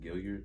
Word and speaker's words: Gailliard: ain't any good um your last name is pronounced gilliard yeah it's gillier any like yo you